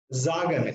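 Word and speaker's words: sagen: So I will say here Zagan. It will be Zagan. S will be pronounced as Z sound, right?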